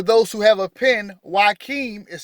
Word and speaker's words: Joachim: According to the Apocrypha, the story of Jesus begins with his maternal grandparents, Joachim and Anna. Joachim and Anna. And for those who have a pen, Joachim is spelled Joachim.